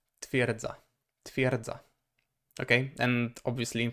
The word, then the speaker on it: twierdza: So it is not twierdza, twierdza. It's really even hard to try to pronounce it properly, or properly as it may seem. But instead it's pronounced twierdza, twierdza, twierdza.